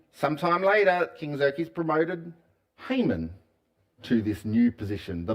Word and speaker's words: Haman: guy, Haman. I think I've heard it pronounced Haman, um which probably is more uh accurate, but I've always grown up calling him Haman, which is very Aussie-sounding kind of pronunciation, right?